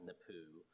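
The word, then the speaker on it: Napue: I believe it's pronounced NAPU, a NAPU claim.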